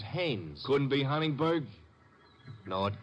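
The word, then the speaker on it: Haines: Not Hines. Hannes. Couldn't be. Honeyberg. No, it couldn't be. The name is Hannes.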